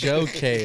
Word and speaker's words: Joe K: Joe Jo K joeoy I probably butchered it jooy no no it's Jo it's Joe K it's Joe K yeah